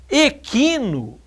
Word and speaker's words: equino: Ninguém vai ter dúvida que é pronunciado esse qui, não é verdade? Equino é K-I só.